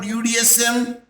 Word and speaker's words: UDSM: acronym okay what about udsm you are not present as a one word Buddhism beautiful University of Dar es Salaam but you will pronounce as u d s m means separate letters which is pronounced at